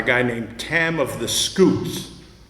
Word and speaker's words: Scoots: Um he also uh had a series about a guy named Tam of the Scoots. It's really should be Tam of the Scouts, but because he was Scottish, he pronounced it scoot.